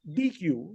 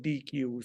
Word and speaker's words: Deequ: Data quality is actually a reworking of the open source DQ, which is spelled DEEQU. And so the Glue data quality is actually a managed service with some enhancements, not open source, of DQ.